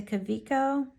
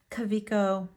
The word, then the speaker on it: Kaweco: little bit about the Cavo brand so you might hear it pronounce coo coo caveo um Cavo like all kinds of stuff it is a German name and so it is